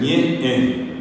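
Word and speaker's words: ñe'ẽ: Siempre hay que hacer ñe e ñe e es la forma ñe e es como que cortamos la vamos espectacular salió un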